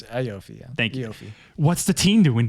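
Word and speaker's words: Iofi: say it how do you say iopi it's iopi yeahi what's the teen doing there whenever you're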